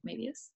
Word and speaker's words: Moebius: and has Moebius syndrome, which is that how you say it, Moebius?